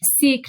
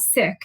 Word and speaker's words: Sikh: of saying, well, why do you say Sikh, not sick? And I try to say sick, but I always say Sikh. That's my go-to. And sometimes it's like a critique, like you shouldn't be pronouncing it in the anglicized way. It should be the Punjabi way.